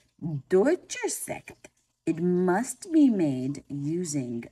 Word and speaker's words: Sekt: This sparkling wine is called Sekt, very similar to the German word for the number 6, except it's spelled S-E-K-T.